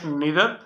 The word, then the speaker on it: neither: इधर और र है य दो तरह से प्रोनाउंस होता है यू कैन से नीदर यू can also say नादर इस similarly you कैन से इदर यू can also say नादर नीदर नादर इदर आइर इ का मतलब है